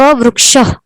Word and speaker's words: वृक्ष: इसी प्रकार से आपको यहाँ पर भी कहना है अशोक वृक्ष।